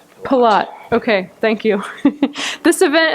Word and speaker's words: Pilote: Am I pronouncing your name wrong? Pilote.